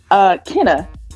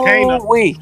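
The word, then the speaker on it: Kena: Her name is Kana. It's Kana. Oh, sorry, You're right. I'm so sorry. The American in me wants to pronounce it the wrong way.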